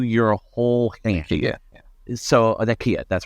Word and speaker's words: Nakia: So Nakia, that's right.